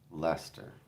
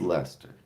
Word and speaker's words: Leicester: Someone said it was Yeah, somebody said it was Worse Worcester, but it was Lester. It was Lester, and that's how you say it.